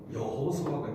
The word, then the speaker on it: 여호수아: 그것도 이제 아람어 예수님 시대는 아람어라고 하는 언어를 썼는데 그때 발음이고 히브리어로 그대로 전처럼 발음하면 그게 뭐가 되냐면 여호수아가 됩니다.